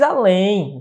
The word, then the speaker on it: além: Vou mais além. Veja, além é uma oxítona, terminada em. Oxítona.